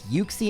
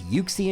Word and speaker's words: Uxie: It's yukie in English. It's yuxy in Japanese.